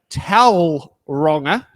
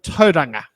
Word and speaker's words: Tauranga: place names such as saying T wronger instead of toang so these are some